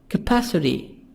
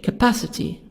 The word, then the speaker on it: capacity: capacity the total amount t soft d the total amount british capacity the total amount here t y soft d y capacity the total amount british capacity the total amount american d here softly total between two vowels o and a maximum minimum maximum minimum